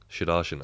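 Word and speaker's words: Sudharsan: I'm going to get this pronunciation very wrong, but Nikhil, help me out. Sudarshan. Sudarshan.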